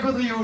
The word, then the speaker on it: Gaudriot: Alors, c'est Gaudriot, G-A-U-D-R-I-O-T, comme ça se prononce.